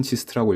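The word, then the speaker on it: GIST: 대학치고는 굉장히 적기 때문입니다 약칭은 지스트라고 읽으며 모든 과목 강의가 영어로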